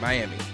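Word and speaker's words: Myamee: And cameo appearances were made by Rabbit from Real Chance to Love and, how you pronounce this name? Miami? Yeah, M-Y-A-M-E-E, Miami.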